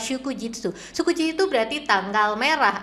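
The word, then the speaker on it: 祝日: Kanji oiwai sama kanji hari dibacanya adalah shukujitsu.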